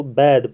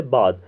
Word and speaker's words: بعد: کے بعد، یہاں آج ہم عام طور پر اس کو بعد پڑھتے ہیں، بعد لفظ نہیں، یہ لفظ ہے بعد، تو اس کا جو صحیح تلفظ ہے وہ ہے بعد۔ معائنہ کرنے کے بعد